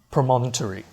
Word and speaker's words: Promontory: including the glass promon Promontory that's how you say it I'm not speaking funny that's how you say it promont repeat after me glass promon so here